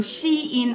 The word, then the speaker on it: Shein: Men det rätta uttalet är alltså Shein och inte Shein, som jag fortfarande säger utanför kameran.